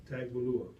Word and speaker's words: Tagovailoa: It's hold on, let me Tagovailoa.